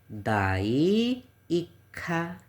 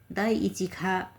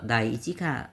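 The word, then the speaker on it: 第一課: खोजेको हो र यसको प्रनाउन्सिसन चाहिँ दाई इखा भनेर पढ्नुपर्छ। के भन्नुपर्छ त दाई इखा खा दाई इचिखा भन्दा पनि त्यस्तो खराबै चाहिँ होइन है। तर दाई इचिका नभएर दाई इच्छखा भनेर पढ्नुस्।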